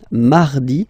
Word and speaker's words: mardi: So you can hear that you don't pronounce it that strongly, this R. Huh? Mardi, mardi, okay? You don't need to go too deep like mardi, no, no, no. You don't move your tongue, so it doesn't sound like mardi, no.